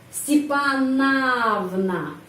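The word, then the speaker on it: Степановна: pada huruf a Sipa stepannana stepanna Kenapa a di sini karena O tidak mendapat penekanan karena itu bacanya a Zoya stepanna itu ist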